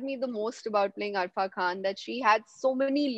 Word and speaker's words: Arfa Khan: And tell me something about your character, Arfa Khan, if I'm pronouncing it correctly.